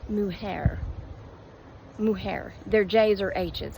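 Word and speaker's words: mujer: I forgot woman Mare which she kept calling Muer I was like it's not Muer it's muhair she said it's m u j e r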